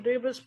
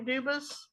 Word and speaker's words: Dubus: Dubus present? Anthony Dubus? I am Anthony Edward Dubus. Dubus is the English pronunciation. Dubus is the original French.